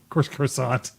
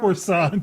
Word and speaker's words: Coruscant: Croissant. Again, I think it depends on where you're from. Coruscant. Did you just Coruscant. read these? Coruscant. Coruscant. Living with Frog Lady and Husband, or Real Twi'leks of Coruscant.